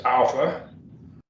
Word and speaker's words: alpha: it worked there is alpha alpha it's the a is in father a is in father everyone got that alpha ah as in father it's pronounced like an